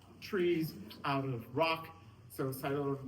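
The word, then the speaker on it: Psilotum: The P is for silo. Cyota is spelled with the P. That's the whispering that you see growing out of of trees, out of rock. So, silo.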